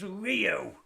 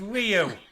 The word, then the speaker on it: Rio: It's Rio. It's a phonetic language. The I is always pronounced E.